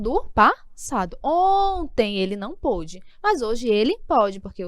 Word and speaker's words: pôde: Então, quando você quer se referir a algo no passado, você fecha mais.